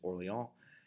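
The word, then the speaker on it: Orléans: at the siege of Orleans the the French pronunciation is orally on and that is where New Orleans comes from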